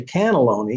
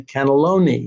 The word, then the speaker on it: cannelloni: Like you don't say cannelloni, you say cannelloni, you know, and superb, you don't say superb, you say superb. So the emphasis there, you have to figure out what syllable the emphasis has to be on.